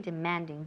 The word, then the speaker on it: demanding: ¿Dónde está el énfasis? En la segunda sílaba. Demanding. Okay, demanding.